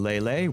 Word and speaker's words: Leyley: second the coffin of Andy and lelay which I Will Stand My Ground and say that's how it's pronounced because it makes a